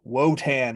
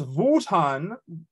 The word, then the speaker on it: Wotan: called well I guess in English wotan or you would say woden probably in German it's votan and umutan in German woden in Old English are just the different